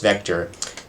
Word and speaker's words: Vec: This is contiguous array written vec-t but pronounced vector. No, sorry Rust, you can't do that. You can't call something vec and then tell us to pronounce it differently. That's just not how programming works.